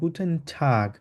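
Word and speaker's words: Guten Tag: বলি ওই জন্য বলবো গুটেন ঠাক এটাকে একদম টা মানে ট উচ্চারণ না করলে অনেকটা ট আর ত এর মত উচ্চারণ গুটেন ঠাক গুটেন ঠাক বলবো আবার বলেন গুটেন গুটেন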